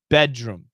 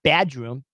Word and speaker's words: bedroom: not exactly sure uh typically the pronunciation is bedroom bedroom not bad room bedroom bedroom bedroom bedroom